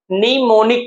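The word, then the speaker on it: mnemonic: उसे तरीके से देखिए यहां पर एम है एम से शुरू है लेकिन इसे हम लोग क्या पढ़ने हैं निमोनिक पढ़ने हैं क्या पढ़ने हैं निमोनिक पढ़ने हैं तो हमारा साइलेंट क्या है यहां पर ये साइलेंट हमारा हो जाएगा एम साइलेंट होगा ठीक है लेकिन एक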